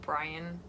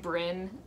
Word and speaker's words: Brynn: your mom ashley and i've been called brian um multiple times just because people for some reason think they read brynn and i think brian because it's spelled b-r-y-n-n my name anyways so